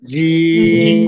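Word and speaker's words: ج: আর তিন আলিফ টেনে পড়তে হবে সবাই বলেন জিম কোন জায়গা থেকে উচ্চারণ হবে মাশাল্লাহ মাঝখান বা মধ্যকান ভাই যশোরের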